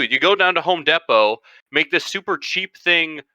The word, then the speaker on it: Depot: properly pronounced from deeper i don't care it's depo the word is pronounced remind me of my failures all you